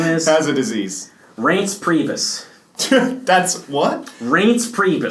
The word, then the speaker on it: Reince: It sounds like a Reince Steve Brule mispronunciation of someoun's name. It's like REINCE, I think.